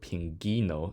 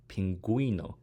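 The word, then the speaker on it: pingüino: the U here to show that the U isn't silent it's not beling or Pino it's bilingu and pinguino also note that q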